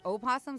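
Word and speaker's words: opossum: People just say like the O is silent. I say the O is silent. Why even have to I say possum but this newscaster was saying oh possum so I'm like have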